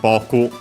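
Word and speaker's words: 僕: koko de Uh first boku uh first person singular pronoun. Metamodern language. Accent on the first mora.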